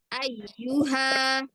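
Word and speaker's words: أيها: Ayyuha. Ayyuha. Coba, Ibu. Ayuha. Coba. Ayuha. Tahan di-nya. Tahan di huruf Y-nya.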